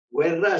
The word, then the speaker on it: Guerra: Guerra se escribe guerra como en español, pero los italianos pronuncian guerra.